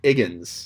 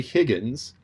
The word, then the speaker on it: Higgins: right because it's henry higgins but the cockney accent drops the h so it's henry higgins and one of the